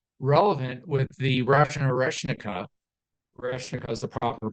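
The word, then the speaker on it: Орешник: Oreshnika is the proper pronunciation.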